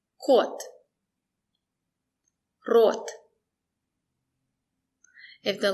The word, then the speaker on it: рот: When the letter O is stressed, we pronounce it as O.